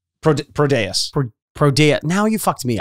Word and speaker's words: Prodeus: Prodeus. Prodeus. Now you fucked me up. Prodeus. Yeah, I think that's what we're going. I'm putting the emphasis on pro.